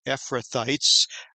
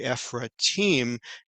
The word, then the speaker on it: Ephrathites: mentions that there's a title here and it's pronounced well in English ephrathites but it would be ephra team in Hebrew and sometimes it's thought that these